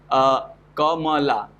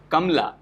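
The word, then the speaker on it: कमला: So what happens if we do not pronounce word Kamla as Kamala, it's Kamla.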